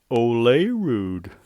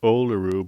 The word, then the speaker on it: Olerud: a really thick it's coming from Mr John Olay rude oh they of course his name is pronounced oluru but he's I like to call him Olay